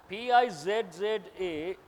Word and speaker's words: pizza: In Italian language, two Z's should be pronounced as TZ.